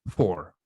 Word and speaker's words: four: después viene el número 4 que es four efe r se pronuncia por jóvenes 5 que se